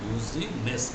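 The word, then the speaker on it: Boussinesq: এই যে BOOSINESK, actually তার নাম হচ্ছে BOUSSIN বুজিনেস্ক, NESK, এখানে যেটা উচ্চারণ করি বুজিনেস্ক।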